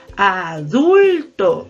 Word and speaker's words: adulto: la palabra y adulto yo digo adulto la sílaba tónica es dulce o que a adulto la tienda o no la tilde no por qué porque termina